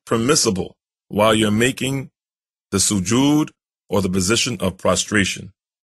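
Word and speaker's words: سجود: If your nose is not touching the floor, then this position of prostration called sujood.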